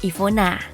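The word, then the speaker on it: Iwona: namanya I wanna blazers kalau di Polandia dibacanya Ivona beautiful Tapi yang aku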